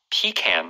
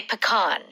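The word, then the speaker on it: pecan: cracker crust yeah so our voice actor says pan pan yeah normally we would say pean I that's how I say it right so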